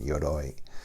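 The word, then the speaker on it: Yoroi: ou ROI I'm pronouncing it looks Japanese to me so I'm giving it a Japanese pronunciation yoy so including dadelus your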